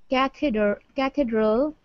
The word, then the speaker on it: cathedral: as an Eastern Orthodox cathedral and cathedral, long E.